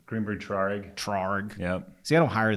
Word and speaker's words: Traurig: Traurig. Yep. See, I don't hire those guys, so I don't know how to pronounce it.